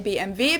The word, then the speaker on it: BMW: BMW V in French in German we say BMV because W is pronounced in German and it stands for